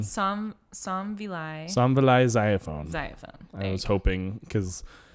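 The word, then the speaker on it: Somvilay Xayaphone: And then written and storyboarded by Kent Osborne and Somvile Xylophone. Yeah. Not xylophone. Somvile Xylophone.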